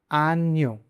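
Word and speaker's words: año: अगला लेटर है एन ए, और इसका साउंड है न्य। न और य दोनों को मिला के, ऐसे के आन्यो। आन्यो।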